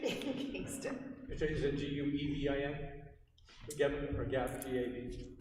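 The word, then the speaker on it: Guevin: Gavin or Gav, G-A-V? How do you spell your last name? G-U-E. G-U-E. V is in Victor. Okay. I, N is in Nancy. Okay. Gavin. U is silent.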